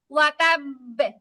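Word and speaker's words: وَتَبَّ: বাটা দুইবার উচ্চারণ হবে আর কি। আপু দুইবার না, দুইবার, খেয়াল করেন দুইবার না, মানে কি যে নরমালি ওয়াতাবে একটু বলতাম ওয়াতাবে, কিন্তু এখন একটু শক্ত করে বলবো ওয়াতাব, এরকম বলবো।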